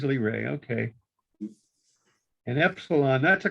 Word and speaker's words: Lyrae: vega and epsilon lyrae how do you pronounce l-y-r-a-e l-ray it is lee ray okay and epsilon that's